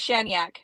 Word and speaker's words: Shaniak: It's pronounced Shaniak. It's Russian or something.